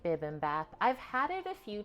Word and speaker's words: bibimbap: It's not bib, it's bibimbap.